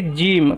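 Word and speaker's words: gym: For example, আমরা জানি জি ওয়াই এম, এটাকে জিম, কসরত করতে যাই না আমরা, সিক্স প্যাক বানাতে যাই, ডোলে সোলে বানাতে যাই, জিম।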